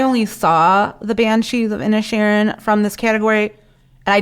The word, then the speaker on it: Inisherin: Am I pronouncing that right? I'm trying not to say Ed Sheeran. Inisherin. Inisherin.